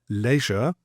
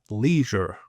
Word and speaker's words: leisure: Now here's another common one that I would say is a Brit leisure. The Americans would say leisure.